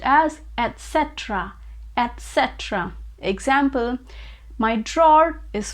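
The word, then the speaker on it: etc.: they pronounce it as etc etc which is a wrong pronunciation it is actually pronounced with t sound so it is etc etc so the word is pronounced as etc etc example my drawer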